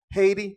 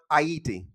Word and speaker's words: Haiti: aside man quick aside is not pronounced Haiti it's pronounced hati I don't know that